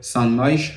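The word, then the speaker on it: Son Moix: bien sûr à l' stadi Saint Moich. Je crois que ça se prononce de cette manière-là.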